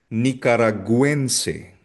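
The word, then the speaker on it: nicaragüense: Costarisense costarisse costarican nikaraguense. Nikaraguense. So kung mapapansin ninyo la letra U ay yung letter U may dieresis.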